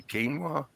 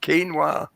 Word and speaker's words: quinoa: Or it I tastes don't know, like it took me years to learn how to say quinoa. Say what? Quinoa.